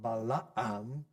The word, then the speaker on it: Balaam: name, a famous name, Balaam. That's how we say it, but as I said, it probably should be pronounced more like Balaam.